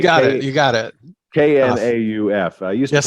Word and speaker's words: Knauf: Do you pronounce the K or is it just Knauf? I do pronounce the K. Thank Knauf. you. Okay. You got it. You got it. Knauf.